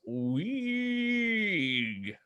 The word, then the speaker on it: Uwweegh: responded back originally with, I think it would be pronounced weeg, but it's UWWEEGH. It's supposed to be like a scream noise, like a metal vocalist.